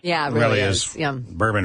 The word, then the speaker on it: Berman: Berman rhymes with Sherman.